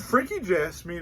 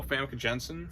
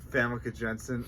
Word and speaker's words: Famke Janssen: Could Frankie Jasmine, or however you say her name, walk in this movie?